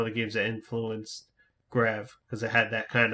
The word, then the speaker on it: G-Rev: Do you pronounce the company G-Rev or Grev? I've heard them pronounce it both ways. Okay. The Japanese I've heard they used to say Grev.